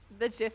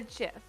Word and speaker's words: GIF: Okay, how do you pronounce something that you get on Christmas? What is it called? It's called a gift. That long-necked creature from Africa. What do you call that? A giraffe, and that's GIR.